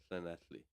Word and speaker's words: Llanelli: In the chat, I've just put in the place I was saying, Llanelli, right?